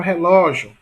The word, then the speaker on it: relógio: E na palavra relógio, veja que a sílaba mais forte é ló, que é a penúltima também. A última é gil. Percebe? A última é gil e a penúltima, portanto, é ló.